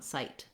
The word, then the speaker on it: sight: So either I don't let it out, sight, or I let it out, but it can't go on, sight. Nothing happens besides that one sound.